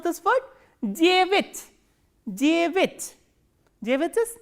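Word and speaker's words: девять: And please remember, stress is on ye. So, this ya will be reduced, and reduced a is normally pronounced as e. So, how will you pronounce this word? Jevit, jevit.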